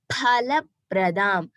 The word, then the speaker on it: फलप्रदाम्: So normal pa when we say here Prati, Pradam. So here Paraha. That pa we have to stress a little bit. That is the pronunciation for pa in Sanskrit. So it is Phala Pradam.